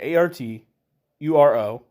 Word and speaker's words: Arturo: It's A-R-T, yeah, A-R-T-U-R-O, Arturo, R-U-A-S, Rouse.